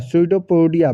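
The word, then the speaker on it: pseudopodia: तो इसका दो बाई the process of सूडोपोडिया भैया, पी साइलेंट है, सूडोपोडिया बोलते हैं, सूडोपोडिया की वजह से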